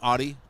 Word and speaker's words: Atte: Ati. It's almost like Addy. Anderson's I want to say skipping. Addy, but it's Ati.